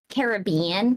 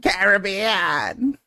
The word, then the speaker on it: Caribbean: Oh, people who say Caribbean. Caribbean. Caribbean. Those are the same people say caramel.